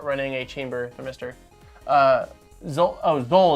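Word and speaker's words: Xol: Zol is how you pronounce it. Okay. Zol, like roll with a Z, Zol.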